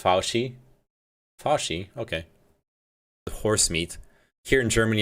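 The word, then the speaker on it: Fauci: just so you know it's pronounced faushi horse meat here in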